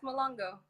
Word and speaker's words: Muloongo: Yeah, it's Malongo. Mulongo, Yeah, it's Mulongo. correct. And she's had, I say again? Oh, I said you were right. You're right. You pronounced it correctly.